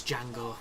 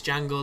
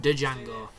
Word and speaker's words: Django: is the django unchained even though it's jangle I know it's jangle the D is silent but I preferred de Django there's just something badass